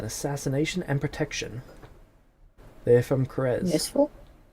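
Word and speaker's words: Krezk: They're from Krez. Useful. Kresk. Nope, Krez. Tiny village just south of Krex. I always Damn. pronounce that one wrong though.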